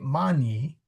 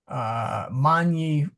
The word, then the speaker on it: magni: So you would say mani, mani fluvii, for example, many rivers, but they've turned it into a question.